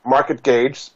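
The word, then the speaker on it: MarketGauge: and so you can find out more at market gage pronounced was spelled GA u GE dot-com her other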